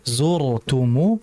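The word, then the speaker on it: زرتم: Jadi ro kalau mati itu tetap melihat kondisi harakat sebelumnya. Kalau harakat sebelum hurufnya itu ro itu ro kan mati. Sebelumnya ada huruf. Kita lihat kalau harakatnya dam atau fathah tetap dia dibaca tebal. Jadi zurtumu tetap dibaca tebal rnya hati-hati. Zurtum jangan hatta zurtumu.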